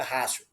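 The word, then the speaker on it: ratio: chamado de última rácio se escreve Ráo mas se pronuncia rácio né que nos ensina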